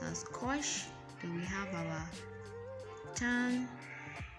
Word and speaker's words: cosh: H to make it shine y cos is pronounced as Cosh then we have our tongue and their inverses